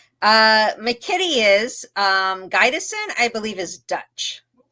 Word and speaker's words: Gydesen: Gison. And she trust me, everyone pronounces it that way for whatever reason, but it is Gaidison.